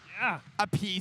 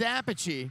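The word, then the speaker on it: Appice: mispronunciation brother feud uh vinnie apache and carmine peace apiece versus apache wow carmine and vinnie pronounce the difference they're brothers they got the same last name dick sergeant sergeant york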